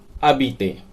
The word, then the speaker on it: habiter: पढ़ा जाएगा ए बी आई टी आई आर अदित लिखने में पूरा आएगा हा ए बी आई टी आई आर लेकिन बोलने में ए बी आई टी आई आर अदित तो इसका प्रयोग करना है ठीक जस्ट बात